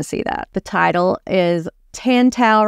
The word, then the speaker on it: Tantau: that the title is tantel rhymes with Wow because that's how I remind myself to say their name correctly and so much about